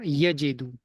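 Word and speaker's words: يجد: Because of pronunciation purposes, we just drop the waw and we say wajada yajidu.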